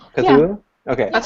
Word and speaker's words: Cthulhu: If you like Cthulhu, if that's the right way to pronounce it, or did I say it right? I think so. Cthulhu. Cthulhu.